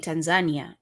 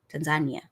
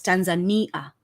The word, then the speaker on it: Tanzania: therefore it's tanan and in kiswahili we pronounce as it's written so it's t a so as long as you're saying Tanzania you you're not pronoun